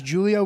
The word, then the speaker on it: Giulio: I like dropping a hard G sometimes, but it's pronounced is Julio. Okay. It it always is. My name is Julio with a G, but not Julio.